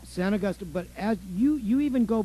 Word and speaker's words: San Augustin: But everybody in the area pronounces it San Augustine now. San Augustine.